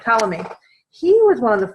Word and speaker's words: Ptolemy: Ptolemy, the P is silent. Ptolemy, he was one of the first that tried to figure out the solar system, the planets and the stars.